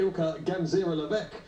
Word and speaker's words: Ilka Gansera-Leveque: How do you pronounce her name? All those things. Well, we know now. Yeah. Ilka Gansera-Leveque.